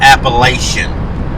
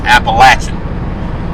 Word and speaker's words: Appalachian: for everybody who doesn't live here it's not appalachian it's appalachian and appalachian has said with hillbilly in it because 100 percent there's no such place on this earth that anybody who's from here called appalachian or appalachian sorry appalachian it's appalachian mountains but